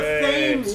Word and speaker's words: Thames: It's pronounced River Thames, you cunts. Every other pronunciation is get out dead of here wrong.